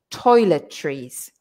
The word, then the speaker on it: toiletries: everybody can say but then we say trees so like like like like trees in a forest toiletries toiletries okay because that's a it looks much more difficult than it is just to say i hope you're saying